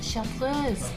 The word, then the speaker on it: chartreuse: As in hers, chartreuse. I've been going chartreuse.